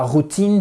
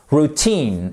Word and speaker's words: routine: l'améliorer d'accordwich re re ok c'est pas routine c'est roue roue je sais que ça fait bizarre parce que c'est un mot français mais vous savez que l'anglais n'est pas du français en anglais donc ça BO être un mot français en fait c'est un mot anglais à part entière et il se trouve qu'il a sa prononciation bien spécifique dans la langue de Shakespeare qui est si vous avez suivi routine exactement et break through littéralement